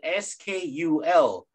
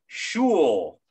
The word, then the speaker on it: school: School is spelled S-K-U-L. School. School. Not shul. Ooh. Shul. You English professors. You are not teaching it right.